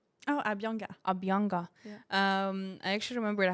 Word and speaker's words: Abhyanga: Abhiganda? Oh, Abhyanga. Abhyanga.